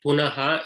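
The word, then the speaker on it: पुनः: And then punaha, it is not punah. It's not half visarga, it is full visarga.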